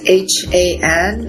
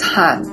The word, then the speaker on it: Han: It is a Korean word, and it's spelled H-A-N, and Koreans, we pronounce it as Han.